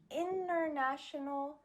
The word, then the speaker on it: international: The first one is with an NT. So for example, the words international, winter, internet, sentence. In these words, the T is just gone.